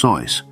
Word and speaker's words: Seuss: 1904, Dr. Seuss, which is actually pronounced Seuss, a fictitious name for